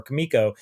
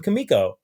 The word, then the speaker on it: Comico: about Johnny Quest, which he was doing for Comico, and right. he clearly calls them Comico, and because I've heard people pronounce it both ways, and I wanted to